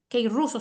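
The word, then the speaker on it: κηρύσσω: pero ahí el original griego es Ke ruso que ruso se pronuncia es el original griego que ruso Qué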